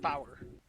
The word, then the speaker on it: four: is pronounced like tree four is pronounced power that's how it looks five is five like